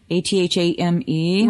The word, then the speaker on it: athame: It's called an athame. It's spelled athame, A-T-H-A-M-E. Right. We pronounce it athame.